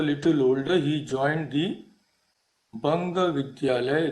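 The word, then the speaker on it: বঙ্গ বিদ্যালয়: And when he grew a little older, he joined the Banga Vidyalaya, that is pronounced as Bongo Vidyalaya in Bengali.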